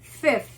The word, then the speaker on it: fifth: Cuidado a pronúncia. Número 5 é five, mas quinto é fifth.